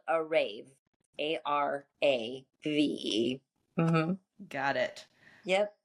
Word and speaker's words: Arave: We just. answer, just like an, but yeah, it's spelled Arave, Arave.